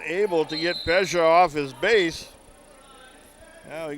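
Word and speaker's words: Pejsa: Drew Pesha. P E J S A is his spelling of his last name pronounced Pesha.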